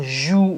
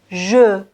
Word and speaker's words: je: donc dans ce mot il faut garder la prononciation de cette lettre E je ne dois pas dire jour ou bien jour ok on doit dire tout simplement je je ensuite 7 lettres se